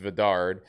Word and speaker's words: Wedard: people to listen to, it's spelled Wedard, but it's German, so it's pronounced Vedard, Wedard.